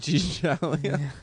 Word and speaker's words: Italia: Italia. Alitalia. That's how it's pronounced in their language.